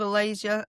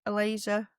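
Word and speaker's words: Ailaysa: So there's one called Alasia. a laser. It's spelled A I L A Y S A.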